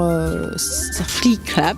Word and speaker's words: Eurafriclap: Eurafriclap, c'est très simple. Ça s'écrit E-U-R-A-F-R-I-C-L-A-P. Eurafriclap, le clap comme le cinéma.